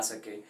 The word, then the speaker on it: sake: यहाँ पे बहुत सारे लोग इसकी जो प्रोनाउंसिएशन करते हैं वो एक्चुअल में करते हैं सेक, लेकिन ये सेक नहीं है, बेसिकली इट्स साके।